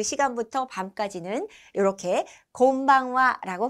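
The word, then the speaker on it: こんばんは: 이제 대여섯 시 지나가서 어둑어둑해진 그 시간부터 밤까지는 이렇게 곤방와라고 발음합니다.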